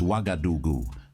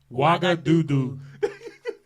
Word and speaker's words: Ouagadougou: The capital city is Ouagadougou. Ouagadougou.